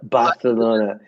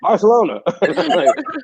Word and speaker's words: Barcelona: they uh do they pronounce uh barcelona with that spain th on it more like bartholomew oh yeah man it's the worst lana barcelona it's like they're sticking out their tongues at you man i'm like stop